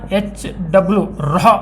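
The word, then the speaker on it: ρ: p = -1ಪ ಅಂತಂತ ಉಚ್ಚಾರ ಮಾಡಬಾರದು ಆಕ್ಚುಲಿ rh ರಾ ಅಂತ ವಿಚಾರ ಮಾಡಬೇಕು ಲ್ಯಾಟಿನ್ ಗ್ರೀಕ್ ವರ್ಡ್ ಐತು ಅದು ಸೋ ಆ ರೀತಿ ಬರ್ತದ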